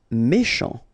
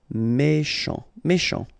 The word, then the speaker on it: méchant: Méchant. Final T not pronounced. C-H together, sh. Méchant.